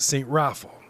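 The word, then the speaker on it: St. Raphael: you're saying it wrong it's spelled saint raphael but it's pronounced st raffle well when it was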